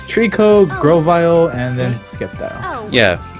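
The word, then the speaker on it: Sceptile: I assume I'm pronouncing that right. He's all, no, you got it completely fucking wrong. It's Skeptile the Slayer.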